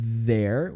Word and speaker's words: there: Ou então não havia nenhum, que seria esse there was no. Perceba que a minha pronúncia do there, língua entre os dentes e faz esse som de Z, ó.